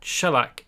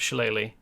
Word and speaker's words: shellac: helps jewel crafting, because shellac is, that's how you pronounce this word, by the way. It's not shillelagh, it's shellac.